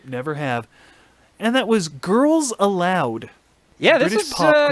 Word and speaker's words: Girls Aloud: It's spelled A-L-O-U-D, but of course, Girls Aloud.